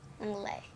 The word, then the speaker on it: anglais: Longley. What? Longley. Like long lay, but longley. Anglais. It's English in French. Like I speak English, so it's like I speak longley.